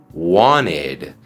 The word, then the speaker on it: wanted: verbo want o querer en pasado decimos wed Wanted por ejemplo ella quería un coche nuevo She Wanted a New car sheed a New car como puedes ver la terminación e d suena como Ed porque el verbo want termina en el sonido t si estás conociendo mi